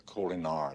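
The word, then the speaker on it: Kolinahr: apparently to stay yes you were undergoing the culiner discipline sit down if you are referring to the colar doctor you are correct well however it's pronounced Mr Spock it's the Vulcan ritual that's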